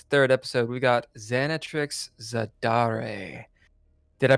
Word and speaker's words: Xanatrix Zadare: ] today it's the third episode we got xanat Trix zadar did I pronounce that right xanat Trix you did and